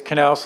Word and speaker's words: Naus: It's Naus like knife.